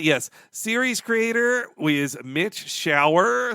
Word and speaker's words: Schauer: series Creator is Mitch shower spelled s c h a u e r but pronounced like the bathroom thing the shower like he he is